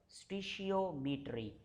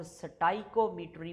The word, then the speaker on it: stoichiometry: उसके बाद जो हमारा सेकंड टॉपिक है आज का, उसका नाम है स्टीशियोमीट्री। अच्छा, इसको लोग स्टाइकोमीट्री भी पढ़ते हैं, स्टीशियोमीट्री भी पढ़ते हैं, डिफरेंट प्रोनाउंसिएशन हैं। आप कोई भी यूज़ कर सकते हैं।